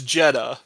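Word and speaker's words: Jedha: two D's yeah so the correct answer is jeda but it is spelled j d h a so both spellings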